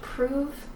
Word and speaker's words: prove: Kind of like, it's spelled like love, but it actually has an oo sound, prove.